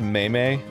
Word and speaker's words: meme: by the way Dan it's pronounced may may not pronounce me I don't think you